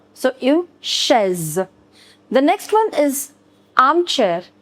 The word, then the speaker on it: chaise: Remember I told you the pronunciation of CH in French is sh. So une chaise.